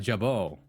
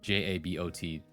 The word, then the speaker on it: jabot: It's a um uh a jabo, I think is what it's called. Which is spelled J A B O T.